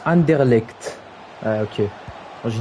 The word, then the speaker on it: Anderlecht: Ça se prononce Anderlecht.